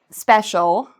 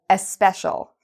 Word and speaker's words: special: So for example, a lot of Spanish speakers might pronounce special like especial, or they might pronounce school like eschool.